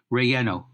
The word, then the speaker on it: relleno: It's like a double L sort of thing. Relleno.